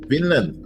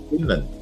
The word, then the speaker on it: Vinland: whom she followed in Finland I think this is Finland just pronounce with the